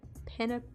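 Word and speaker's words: penne: I don't want to the correct way to say pen pasta is pen the e at the end of pen is actually silent wait no hold on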